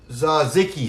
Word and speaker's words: tzatziki: One of your followers said tzatziki. Isn't that what I said? No. It's like a sneeze, isn't it? Tzatziki.